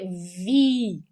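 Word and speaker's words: wie: IE se pronuncia um II mais prolongado. Então, a gente vai ter vi, tá?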